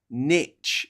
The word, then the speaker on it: niche: But yeah, it really, really winds me up when Americans say the word niche instead of niche. It's a French word. Niche. It's not an English word. Niche. It's niche. It's got an accent over the E.